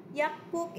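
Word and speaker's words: 약국: Now remember, kanisha class, the batchim here is Giyuk, and then the next syllable is also Giyuk, right? The same initial principle with the Hakyo. Hakyo here, it becomes, you know, Hakyo, it means school. Ang pagpronounce na niya class, it becomes double Sanggyeok, okay, or double Gyeok. So that's why we are going to say Yakpuk, okay, Yakpuk.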